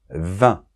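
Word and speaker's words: vingt: Vin, on ne prononce pas le G.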